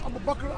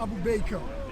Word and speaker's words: Abu Bakr: And he would pronounce Abu Bakr, Abu Baker. Things like Abu Baker, right?